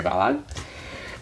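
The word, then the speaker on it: Balogh: with the author Mary bog and she just basically shows the question is how to pronounce her name she's like bog like the Kellogg cornflakes so yes that is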